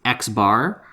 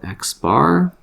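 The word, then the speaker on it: x̄: the symbol we use for a sample as x bar that's how it's pronounced so right there that is called x bar you'll get the lingo and we use it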